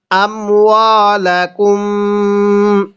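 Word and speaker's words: أموالكم: তাহলে মিম সাকিনের পরে যদি এরকম বা থাকে তাহলে মিম সাকিন গুলো গুন্নাহ করে পড়তে হয়। নিয়মটা কি বললাম? মিম সাকিনের পরে যদি বা থাকে তাহলে মিমটাকে গুন্নাহ করে পড়তে হবে।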